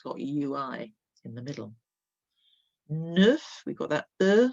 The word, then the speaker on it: neuf: Neuf, we've got that sound like de, neuf. And you can hear that F at the end. That is not silent.